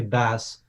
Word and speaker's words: Bas: Yeah, it's actually it's like a shortened version of. So, I I always say you can say Baz.